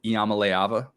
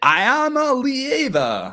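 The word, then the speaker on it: Iamaleava: yeah the chance for Nico Yama leava crushing that pronunciation no dant I had to listen to joess say I am a Lea in the opener and I was just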